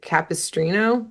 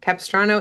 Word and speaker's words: Capistrano: And MIJ flies in kind of in passing and she's asking for directions to I think you say Capistrino. Capistrano.